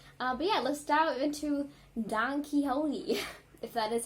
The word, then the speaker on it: Don Quixote: Pronunciation. There we go. Thank you. Let's see. Don Quixote.